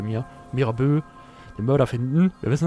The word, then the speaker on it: Mirabeau: Aber wir müssen jetzt den Mörder von Mira Bö. Ich vergesse immer, wie das ausgesprochen wird. Bei Französisch hakt es bei mir. Mirabeau, den Mörder finden.